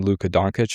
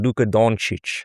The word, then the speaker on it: Dončić: We'll work on the pronunciation of Luka Dončić. Dončić.